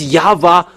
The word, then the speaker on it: Yahweh: Is it Yahwa or Yahoo or Yava?